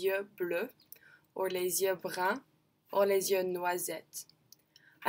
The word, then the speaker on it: brun: If I was male, I'd say je suis blanc, je suis blonde, et je suis brun, je suis brune.